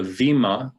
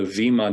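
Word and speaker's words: βήμα: we would call the vemma even though it's filled with a b it's pronounced with the v sound the vemma d'or uh and and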